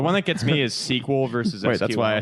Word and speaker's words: SQL: to them is SQL well sequel I'm for because it's two syllables and not three SQL is three syllables yeah it's weird man